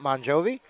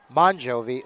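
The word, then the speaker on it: Mongiovi: And we'll say that the coach's kid Maria MJI again pronounced Bonjovi even though it is spelled M O N G I O V Ei.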